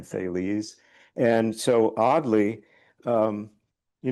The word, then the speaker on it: Thales: by the Greek philosopher whose name I always pronounced as thals but I just recently learned that it's the which is nicer actually. So if if anyone knows a better pronunciation you can tell me but I'm going to call him Thales.